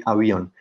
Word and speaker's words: avión: So if we don't add a stress mark, we should pronounce this like avion. But this is not the case, so we say avion.